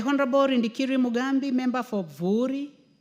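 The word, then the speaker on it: Buuri: The Honorable Rindikiri Mugambi, member for Vuri. Some people would like to call it Bori, but it is Vori. That's the correct pronunciation, Madam Speaker.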